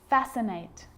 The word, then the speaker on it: fascinate: a few problems because it's often silent after the letter s like in these very common examples they're quite tricky muscle muscle scissors fascinate scene scenario muscle scissors